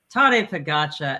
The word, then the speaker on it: Tadej Pogačar: How do you pronounce his name again? Tadej Pogačar.